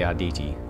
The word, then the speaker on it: Arditi: At least I pronounced it right, the Arditi. I was pronouncing that right.